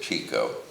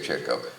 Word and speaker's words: Chico: He mispronounced it, Chico. He didn't know to say Chico.